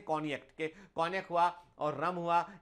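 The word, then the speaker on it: Cognac: होता हैक जो है कोनियक स्पेलिंग होता है सी ओ जीी एन ए कॉग्नेक लिखा होता है पर उसे बोलते हैं कॉनिक कनिक हुआ और रम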